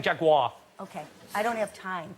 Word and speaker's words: Jaguar: roughly no not a Jaguar if you're going to promote them at least learn to say it properly how am I say you are three syllables over it yeah you say you're saying Jaguar okay I don't have